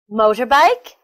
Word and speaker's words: motorbike: that's all for today we learned the stress position of forwards motorbike underground holiday family they're all three syllable word with the stress on the first syllable I hope you learned